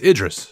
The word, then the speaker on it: Idris: listened to the show and yelled the correct pronunciation what is it again I'll learn eventually it's Idris Idris Idris Ela Idris Ela gotcha all right